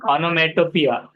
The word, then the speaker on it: onomatopoeia: बाद में अच्छी क्वालिफिकेशन ऑनोमेटोपिया। तो ऑनोमेटोपिया ऐसा उसको प्रोनाउंस करना है।